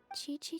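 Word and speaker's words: Qiqi: You pronounce it Chi-Chi.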